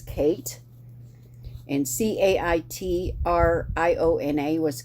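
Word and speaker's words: Cait: also bithia Chris Buchanan Kate c-a-i-t was Kate and c-a-i-t-r-i-o-n-a was Katrina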